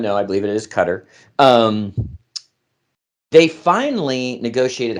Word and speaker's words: Qatar: Qatar, which I believe is the correct pronunciation. I always have said Qatar because everybody wants me to say Qatar, so I say Qatar.